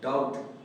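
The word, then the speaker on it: doubt: Dear student, इसे debtor नहीं बल्कि मैं डेटर, डेटर करके हम प्रोनाउंस करेंगे। तीसरा जो हमारे पास वर्ड है डाउट।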